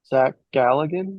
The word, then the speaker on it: Zach Galligan: Zach Galligan.